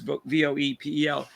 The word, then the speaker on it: Voepel: So, and then now they did some Michael Vopel. I don't know if I pronounced his name right. It's Voepel.